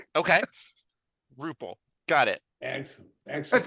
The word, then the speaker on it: Rupple: I'd like to without further Ado introduce Doug ruple I appreciate you coming on no problem no problem yeah it's actually ruple but that's fine ruple okay ruple got it excellent excellent it's okay when I